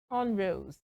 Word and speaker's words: cornrows: So, this one has the stress on the first syllable. Cornrowse. Cornrowse. So, it should not be cornrows. It should be cornrows.